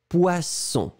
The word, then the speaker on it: poisson: Le premier, comme j'ai expliqué, 2S, le son, c'est très, très fort, c'est vraiment un S très fort. Poisson. La technique, c'est de faire le son un petit peu plus long au début. Poisson. D'accord? Et après, hop, vous le mettez plus court. Poisson. Deuxième. Zzz, poison. On répète le A, poisson. Le B, poison. D'accord?